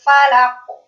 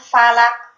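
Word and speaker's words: فلق: Qul a'udzu birabbil falaq. Falaq. Mantul. Jadi keliru kalau bacanya falak. Nanti itu masuk ke makhraj yang lain. Kalau bacanya falak itu bisa masuk ke makhraj kaf.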